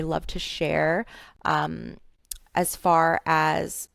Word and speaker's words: Farrah: Two double r in Fara and um, it's pronounced Fara just like Sarah, but with an F.